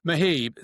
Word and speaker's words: Mohib: Sorry, Mohib.